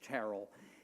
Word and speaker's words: Terrell: the National Portrait Gallery her name is married Church Terrell sometimes pronounced Terell and um she led